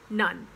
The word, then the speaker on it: none: words um and then the words none as in there's none left it's not known or none or none it's none and front yes front